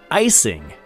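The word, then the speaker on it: Ising: Directed by Rudolph Icing, like an eyeball.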